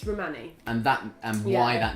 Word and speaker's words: Rhimani: It's Rhimani.